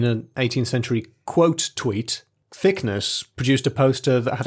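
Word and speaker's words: Thicknesse: the names but captain it's actually thickness e-e-s-e you're always saying captain thickness uh it's thickness i pronounce it thickness please so captain thickness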